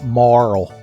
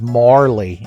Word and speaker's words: Marle: around the world though so I pronounce this name Marl I've heard people on the line on the internets say the name is Marley and every time I hear it I like turn my head sideways like a confused dog because it's just such an odd noise for a human to make so I say her